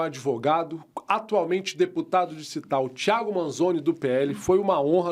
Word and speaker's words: Manzoni: Thiago com H, THIAGO, Manzoni. Manzoni se escreve com N, M-A-N-Z-O-N-I. Que nome difícil, hein, deputado? No final. Cara, já me chamaram de Manzoni, de Mangoni, de tudo que é nome.